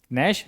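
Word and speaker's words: gnash: एन के ठीक पहले क्या है? जी है। नेश।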